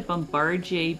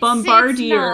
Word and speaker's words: Bombardier: But if you say Bombardier, you're not pronouncing the second R in Bombardier. Some letters are silent.